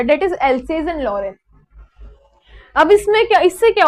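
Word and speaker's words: Alsace: इसको हम else's pronounce करते हैं एंड दिस इज लॉरेन।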